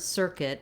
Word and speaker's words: circuit: This U-I is just the I sound, so you can kind of ignore that U.